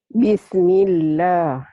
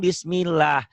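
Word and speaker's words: بسم الله: Bismillah. Tipis apa tebal ya, Maci? Tipis. Bisa dirasain kan Bismillah. Bismillah itu kayak orang bilang Allah kan. Bismillah tuh tipis, jangan Bismillah. Kalau tebal kan ada seperti ada O-nya.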